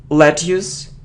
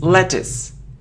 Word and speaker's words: lettuce: mortgage situation okay next it isn't let use it isn't lettuce no it's lettuce lettuce so look at how we pronounce it is the sound e lettuce lettuce okay let's look at